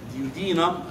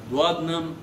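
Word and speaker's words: duodenum: ده اول حاجه اسمها ديودينم دوادنم، لها كذا نطق. المهم خليك في ديودينم.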